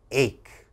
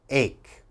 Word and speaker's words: ache: h okay that's wrong that CH has to have a strong k sound ache ache what is an ache